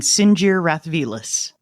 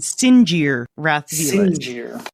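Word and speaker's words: Sinjir Rath Velus: haven't heard the audiobook, it's Jaz Amari and Sinjir Rathvelis. Oh, is that how you say it? That's how they're pronounced. Say it again. Jaz Amari and Sinjir Rathvelis.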